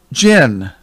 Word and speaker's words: jinn: They call them jinn. Of course, they spell it J-I-N-N. But it's pronounced the same way.